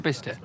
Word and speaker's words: Bicester: now well we definitely how do you say Bicester you say bicester I say Bicester what's the right way of saying is your bist it yes we're invested between Vista